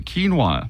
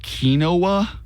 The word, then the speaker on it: quinoa: most commonly mispronounced correct you both said it perfectly quinoa that one's easy uh if you are in the kinoa you are wrong Camp quinoa quinoa what